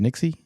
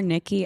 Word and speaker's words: Nixie: You recently had a match uh with is it pronounced Nixie? Yes, Nixie. I saw her correct someone on on Twitter. So, people always call her Nikki. I feel bad. It's the ex is there.